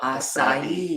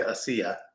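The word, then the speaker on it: açaí: And then I sounds like E. Oh, acai. Yeah. Okay. But a lot of people say acia.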